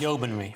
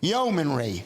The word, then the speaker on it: Yeomanry: It's the Yeomanry man, I don't know how to pronounce that, museum in Newark. Yeomanry. Yeomanry.